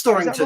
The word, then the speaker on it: Storrington: I went to, how do you pronounce that, Neil? Storrington? It's Storrington, right?